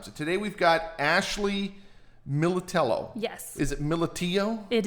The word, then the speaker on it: Millitello: And so Millitello, it's not Millitello? It might be in Italy, but here it's Millitello.